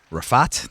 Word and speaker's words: Rifat: Kenan, Rifat, did I pronounce it right?